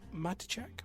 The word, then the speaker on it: Matichak: Judy Greer still playing Karen, and is it Andy Matichak? Yes, that's how I would playing pronounce Allison, who are the only real cast members that are of note.